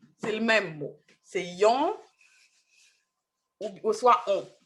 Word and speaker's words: yon: Donc, il y a un seul article indéfini dans le créole haïtien, c'est yon, mais c'est on, c'est une autre prononciation, mais c'est le même mot.